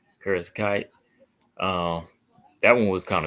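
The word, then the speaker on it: Kareckaitė: Diana Barbosa and Ernesta, how you pronounce the name? Kareckaite.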